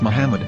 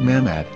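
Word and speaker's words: מחמד: after the H according to Ben yehuda's Hebrew English dictionary it is correctly pronounced as Muhammad not mammad so how we're going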